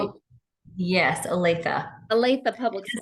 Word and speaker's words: Olathe: Oh, yes, Olathe. Olathe Public School. Does not follow syllable rules.